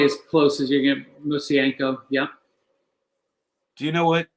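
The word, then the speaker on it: Mosienko: Bill, how do you pronounce it? Messienko? It's probably as close as you get. Musienko.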